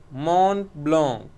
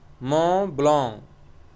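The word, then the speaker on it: Mont Blanc: shell PB shell is mon blon MO blon this is a French name so we will pronounce it as Mo blong to name two famous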